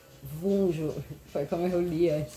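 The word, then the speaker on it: Wunjo: E daí a runa fecha com chave de ouro, porque essa runa a pronúncia é unjo, mas se escreve vunjo, foi como eu li antes para vocês.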